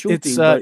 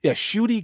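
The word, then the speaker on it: Ncuti: It's Nachuti, or I don't get it. Shuti. It's Shuti, it's a Rwandan pronunciation. Yeah, Shuti Gatwa.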